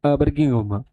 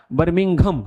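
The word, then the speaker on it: Birmingham: बच्चों इंग्लैंड के अंदर एक शहर है बर्गिम बर्गिंहम। ठीक है? बर्मिंघम सॉरी प्रोनाउंस करने में ये हो गया बर्मिंघम।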